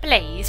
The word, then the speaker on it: Blaze: of the word blase the pronunciation blase that's because it's blaze well apparently it's a